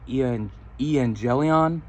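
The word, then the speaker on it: εὐαγγέλιον: The Greek word is actually, and excuse my pronunciation, I'm still working on it, but the Greek word for gospel is actually evangelion.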